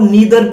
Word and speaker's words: neither: ऐसे ही इसको हम नाइदर भी प्रोनाउंशिएट करते हैं और नीदर भी प्रोनाउंसिएशन इसका किया जा सकता है।